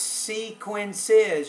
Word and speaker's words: sequences: Sequences. You're remembering to put that third syllable in there.